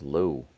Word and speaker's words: Lowe: in there in the lower part of the zone for a strike if I'm not mistaken Brandon La's name is pronounced LA and Josh is Josh low is that right I believe so all